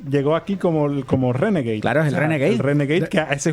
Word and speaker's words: Renegade: Reneg, ¿cómo que Reneg? Renegade, porque hay que pronunciar las cosas bien.